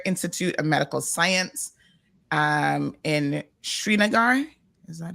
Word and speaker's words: Srinagar: He has done, the Kashmir Institute of Medical Science in Srinagar. Is that how you pronounce that? Yeah, Srinagar.